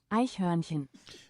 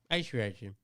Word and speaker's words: Eichhörnchen: Eichhörnchen. You want to know how it's spelt? Yeah. Eichhornchen, and then the O has the 2 dots above it. Oh, it's pronounced just like it's spelled. Yeah. Iceprevention. Eichhörnchen.